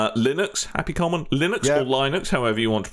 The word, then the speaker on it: Linux: happy common, Linux or Linux, however you want to pronounce it. Still Linux. No, it's Linux. The bloke who made it's called Linus. Yeah. So it's Linux.